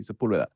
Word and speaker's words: Sepulveda: well in L.A everyone everyone of any type of linguistic background can pronounce my last name because there's one of the main streets in La happens to be Sepulveda obviously nobody outside of